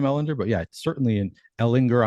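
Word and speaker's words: Ehlinger: I had not been thinking about Sam Ellinger, but yeah, certainly in Ellinger. I'm going to follow your lead with the hard G on there, Sam Ellinger.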